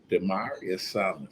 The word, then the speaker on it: Damarius: to our young folks in Detroit we got dearius did I pronounce it right yes speak up young man